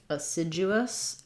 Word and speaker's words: assiduous: As you go from oo to us, assiduous, there's a little bit of a gliding yes sound in there as well. You're not going to see that in the dictionary IPA.